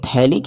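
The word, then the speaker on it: phthalic: तो इसको हम बोलेंगे थैलिक acid थैलिक acid pH जो है इसमें एब्सेंट होता है ठीक है तो इसको हम यानी साइलेंट होता है उसी को हम लोग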